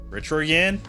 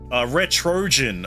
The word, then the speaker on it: Retrojan: Is it Jan as in Yan? Retroyan? Oh, like Trojan. Okay, no. Retrojan. Okay, that makes a bit more sense.